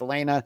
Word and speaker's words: Alana: And Elena just Jordan for our audio audience, I want to point out it's spelled Alana, A-L-A-N-A, but it is pronounced Elena.